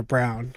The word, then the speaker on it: Braun: now, a guy like Christian Braun or Brown, I think they were saying that's how you say it on the actual thing, but I always said Braun.